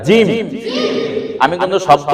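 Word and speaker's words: جيم: জিম না জিম, একটু শক্ত করে জিম।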